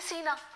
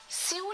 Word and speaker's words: sew: SEW स्यू नहीं होता। I know सीने से मन करता है कि हम स्यू बोले, लेकिन उसकी सही प्रोनाउंसिएशन इज सो। SO जैसे बोलते हैं सो, वैसे SEW सो।